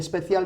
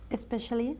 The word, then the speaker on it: special: before the S especially we say special there's no either we don't say especial okay you are a